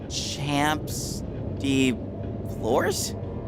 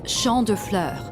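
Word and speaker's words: Champs de Fleurs: Champs de Flores? How do you say that? It's Champ de Fleurs. It means field of flowers.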